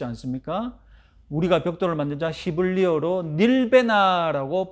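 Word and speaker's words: נִלְבְּנָה: 우리가 벽돌을 만들자 히브리어로 닐베나라고 발음합니다.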